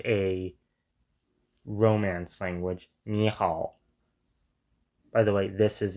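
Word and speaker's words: 你好: The super famous niha. Do pronounce the H, by the way.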